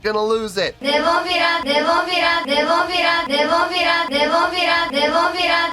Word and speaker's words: Nemophila: I hope you enjoyed the show, and I got the pronunciation down now. I'm not gonna lose it. Nemophila, Nemophila, Nemophila, Nemophila, Nemophila, Nemophila, Nemophila, Nemophila.